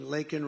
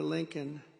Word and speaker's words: Laken: And then he pronounced her name wrong. Remember he called her Lincoln. Remember that? In Congress, he called her Lincoln.